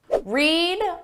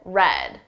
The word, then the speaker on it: read: Read, read, read. Notice the spelling is exactly the same, but the pronunciation changes.